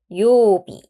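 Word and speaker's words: 曜日: 요일에 장음 있어요. 요비, 요비.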